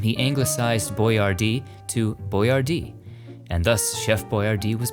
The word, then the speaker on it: Boyardee: Here we find the crypt of Chef Boyardee himself, Hector Boyardee.